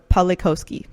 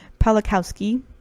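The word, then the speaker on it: Pawlikowski: it'll be quran or poly cow ski pollock Kowski wow i said his name wrong the first time I'm so sorry pala Kowski okay I think PO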